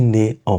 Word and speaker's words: née: But does it change the pronunciation? No.